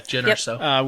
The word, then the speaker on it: Jyn Erso: Well, I remember in the trailer of Rogue One, there was a line where Jyn Erso, that's how you say her name, right? Yeah, Jyn Erso.